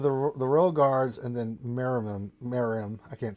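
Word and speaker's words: Meruem: the birth of the royal guards, and then Miriam. I can't say his name. Yeah, Myram. Miriam. I think it's Miriam. I don't. It's Mereum.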